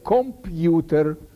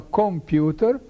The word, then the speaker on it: комп'ютер: Це слово треба писати без апострофа, бо його треба вимовляти так, як «свято», так, як «цвях». Але наші люди не розуміють, це під впливом галицького діалекту пишуть і вимовляють «комп'ютер». Це неправильно. Треба «комп'ютер», так, як «цвях», як свято, як дзвякнути. Ось так треба писати, без апострофа, і вимовляти без йотації.